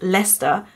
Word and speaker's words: Leicester: pronounce the word Lester which is pronounced Lester but written like this we went to see